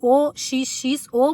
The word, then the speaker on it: OXXO: O OXXO é esse mesmo, aquele que se escreve OXXO, mas se fala OXXO.